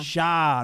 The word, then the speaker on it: Shah: Shah. Shah. Not Shaw. Shah.